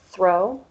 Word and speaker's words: throw: vocal cords vibrate though with throw your tongue goes just under your teeth it's not quite outside throw and your vocal cords vibrate a little less and with the last